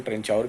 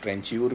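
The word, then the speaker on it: trancheur: तो कुछ लोग इसका प्रोनाउंसिएशन ट्रेंचाउर भी करते हैं, कुछ ट्रेंच्यूर भी कहते हैं, पर दोनों का मतलब एक ही है, कार्वर।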